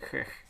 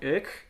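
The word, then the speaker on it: Ecch: Je ne sais pas comment vous prononcez, mais moi je vais le prononcer Ech.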